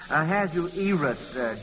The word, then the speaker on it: Ahasuerus: I think it's pronounced Ahasuerus, Joel.